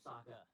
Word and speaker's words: Sokka: My name's Sokka. Rhymes with Rockya.